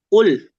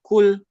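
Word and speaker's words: قل: Tapi dia salah ternyata bacanya kul. Beda kan ya antara kul dengan kul.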